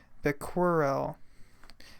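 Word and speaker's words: Becquerel: had Henry here and I believe his last name is pronounced the quarrel and he was in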